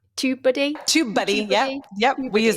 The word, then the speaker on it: TubeBuddy: A really, really good tool is something called YouTube Buddy. Did I say it right? TubeBuddy.